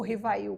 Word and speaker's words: Rivail: Hippolyte Léon Denisard Rivail, ou Rivail, como pronuncia-se, né, mais corretamente.